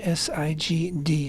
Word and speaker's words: Sigd: is the holiday of Sig uh I would spell it English s i g d sigd and it's an Ethiopian jewry a Jewish